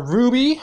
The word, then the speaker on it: RWBY: kakarot my favorite japanese american animated series are ruby which is spelled rwby created by monty um request guide